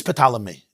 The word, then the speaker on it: Ptolemy: Now, Talmei, it is Ptolemy.